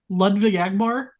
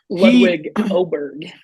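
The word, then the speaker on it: Ludvig Åberg: But I think before we right move now, on, yeah, Ludwig Agbar, the Swedish sensation. Ludwig Oberg. He We've all been fucking pronouncing it wrong.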